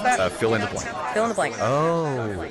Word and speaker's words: Phil and Blanc: Do you know how to pronounce that? Fill in the blank.